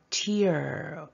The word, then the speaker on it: tear: 위드 뭐뭐로 가득 차다 요 단어 tear 이렇게 발음해 주시면 눈물이 되는데이 글자를 태어라고